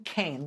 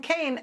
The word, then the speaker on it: Kean: It's currently represented by a Republican congressman named Tom Kean. Looks like Keene, but it's pronounced Kane.